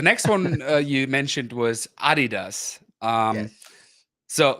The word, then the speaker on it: Adidas: one you mentioned was Adidas um so like I said I said it Adidas Adidas American said American American make it extremely long they say Adidas right Adidas yeah so